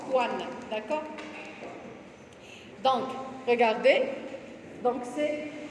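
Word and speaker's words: choane: L'écho, ça s'écrit schwan, mais on prononce coan, d'accord?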